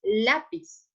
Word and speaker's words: lápiz: n s o vocal pero la sílaba tónica es decir la sílaba que se escucha más fuerte es la penúltima entonces si por ejemplo